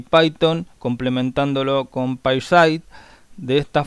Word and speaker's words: Python: de origen anglosajón y como tiene una t y una H la forma correcta de pronunciarlo sería como Suena la consonante Z la forma correcta de mencionar el nombre de Este lenguaje Sería python bueno los que hablamos